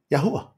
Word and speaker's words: Yahuah: And there's no W's, Daniela, in Hebrew. It's just a U-A, W-U-A. So you're just supposed to elongate that U.